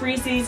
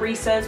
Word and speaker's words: Reese's: i think it's good it's pronounced reese's not recess please don't come for